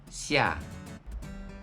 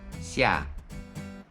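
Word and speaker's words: 下: La prononciation en mandarin c'est xia, xia.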